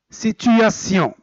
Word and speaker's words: situation: Et passons au dernier, c'est on écrit tion et on le prononce sion. Sion. Par exemple, situation.